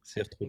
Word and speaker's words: Cire Trudon: Help me out with the pronunciation. Cire Trudon. Mr. Darish. Sir Trudon.